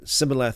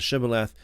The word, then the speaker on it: Shibboleth: it a different way, instead of say Sibboleth instead of Shibboleth, then that's how they would be able to identify the Ephraimites or not. So this is one of the most famous examples of a dialectal difference in the scriptures. The Ephraimite could not pronounce the SH.